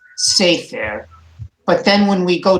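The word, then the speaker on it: סֵפֶר: So when we have a tsere at the beginning of a two-syllable word, we also emphasize the first syllable. We accent the first syllable, sefer.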